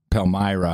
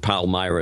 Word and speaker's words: Palmyra: by the way the pronunciation it varies but pal Myra is the way I heard it and wrote it down exactly when some of the American officials said it uh they they're in